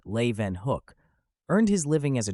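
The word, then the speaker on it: Leeuwenhoek: prove even more astounding Anthony van Leen hook pronounced Le Van Hook earned his living as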